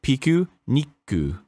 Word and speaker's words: Pikuniku: yeah congratulations oh so the proper pronunciation as is described in the japanese text that you see before you uh is piku nikku nikku yeah you give it a little you have a little pause on the consonant because of